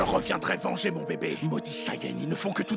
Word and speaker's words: Saiyan: tu perdras, prince des Saiyans. Ça se prononce Saiyan.